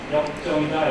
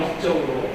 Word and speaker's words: 역정: 그 잘못 발음하셔서 역정이 아니라 역적으로 다시 발음하시면 안 됩니다.